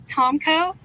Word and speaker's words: Tomko: Tomko, that's spelled. Last name is Tomko, Tomko, and I'm the spokesperson for the 3rd Infantry Division.